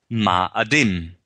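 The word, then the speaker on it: מאדים: Ramadan, which means the ram Adam, or Mars Adam, which means in Hebrew, Adam, or rather Mars, is pronounced Ma'adim.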